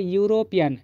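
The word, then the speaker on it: European: एक bubble letter है और इसका उच्चारण कैसा हो रहा है यूरोपियन इस से तो शुरू हुआ है है ना बवे लेटर से शुरू हुआ है लेकिन इसका उच्चारण कैसे हो रहा है य हो रहा है तो इसके पहले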